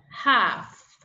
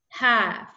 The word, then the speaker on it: half: the second one is salmon salmon you don't pronounce the L right the next one half half the next walk walk the next one talk